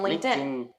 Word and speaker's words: LinkedIn: yeah so pronunciation basically it's going to be like this link 10 linkedin link 10 linkedin linkedin you say link and tan linkedin link that's just